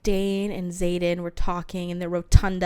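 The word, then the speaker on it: Xaden: name Aiden she's like is it Z is it like silent I was like it's Zaden a xylophone mom and she's like I got to chapter five and she's like Dane and Zaden were talking and they're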